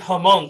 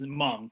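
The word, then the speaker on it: Hmong: um you just explained hamong correct did I it's it's with the H but the H is silent so it's m just m m AR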